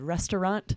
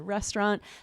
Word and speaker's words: restaurant: One said restaurant, 3 syllables. One said restaurant.